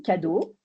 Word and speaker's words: Cadeau: Donc moi, cadeau, comme un cadeau, ça s'écrit.